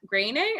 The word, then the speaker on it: Groening: rumored to be matt groening is that how we say his name i've never known it's greening my favorite line they